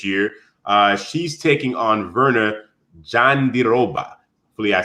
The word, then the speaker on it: Jandiroba: She's taking on Verna Jandiroba. Hopefully I said that right. If I said your name wrong, last name wrong, Jandiroba is correct. She's Brazilian, Jandiroba.